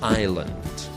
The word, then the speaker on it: island: same letter that's silent the first one is Island iseland and then the second